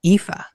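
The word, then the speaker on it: Aoife: I've actually interviewed a couple of authors from Ireland and a few of them have a character called EA and it's spelled A O I F E.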